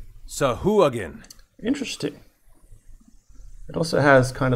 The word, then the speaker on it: Sahuagin: Okay, everyone, listen in. Sahuagin. Wow. I've been saying that wrong. Sahuagin. Sahuagin.